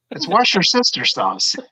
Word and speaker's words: Worcestershire: No, it's wash your sister sauce.